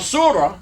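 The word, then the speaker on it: سورة: When it's at the end of the word and nothing else is coming after it, you don't pronounce it as ta, you pronounce it as ha.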